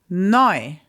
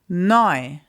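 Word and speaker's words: neu: Noi. Noi.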